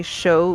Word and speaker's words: Shu: that just sounds good so uh it'd be show ulami okay and so last name but last name gets pronounced first um and then ulami is u-l-a-m-i